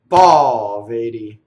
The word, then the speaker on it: poveri: Next one, another anti-penultimate stress, poveri, right? So the accent is the open vowel. Notice that the E is closed, right?